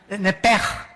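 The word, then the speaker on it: נֶפֶשׁ: La palabra, la letra o las letras sh en del hebreo se pronuncian en hebreo como J.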